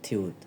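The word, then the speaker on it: 티읕: দেখতে ই এর মত থিউত এটার উচ্চারণ হবে থিউত এই যে ফিউবটা দেখতে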